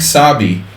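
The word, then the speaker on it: Szabi: C4 boom big Sabi sabi is uh not the way we would spell it but in Hungarian sabius the kemosabe sabi is like a z ABI and it would be a short form of sapolch I was just thinking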